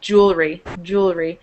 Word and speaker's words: jewelry: So, although jewelry, it looks like jewelry, when we pronounce it, it usually just sounds like jewelry. It kind of almost loses that second E and the lury, that jewelry.